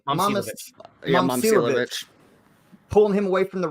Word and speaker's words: Momcilovic: Momcilovic.